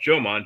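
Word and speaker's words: Jōmon: the the ancient Homman Jan people and they it's pronounced Joman J- O M O N just like the Jojo channel we have here kind of is an ancient race of Japanese and uh Korean um prehistoric peoples.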